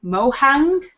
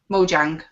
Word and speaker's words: Mojang: is Microsoft buying and I'm sorry if I pronounce this wrong mohang Mojang okay for two billion dollars potential I do